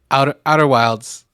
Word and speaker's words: Outer Wilds: Outer Wilds.